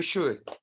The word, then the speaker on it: should: repeat after me you should you should the L is silent don't say should should Ah that's the way